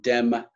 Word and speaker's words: Demme: the 1991 film, Jonathan Demme. Sometimes Americans call him Jonathan Demme, but it's actually a French pronunciation. The accent on the E is virtually silent.